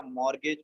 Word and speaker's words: mortgage: So let me write a mortgage problem. Mortgage situation. Mortgage. I think spelling is wrong. It's correct. No, it's perfect. Okay, thank you. Because T is silent here.